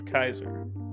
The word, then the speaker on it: Caesar: as it's caesar or kaiser the letter c is always hard in latin so like a k the a e diphthong said i so you would say